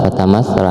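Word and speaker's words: فتمثل: Nah, ini fa, ini jangan salah membacanya. Ini bukan sya. Ini sya, ada giginya. Kalau ini tha, tha, tha, lidah digigit, kemudian tha. Nah, tapi dikit aja, agak ditekan dikit karena ini ada tasydid.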